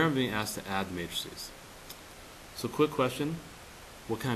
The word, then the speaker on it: matrices: the way uh plural for Matrix is matrices matrices is how you say plural form okay so now let's